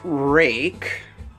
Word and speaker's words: RUIKE: a it's a break it's pronounced rake but it's not spelt rake okay it's a Chinese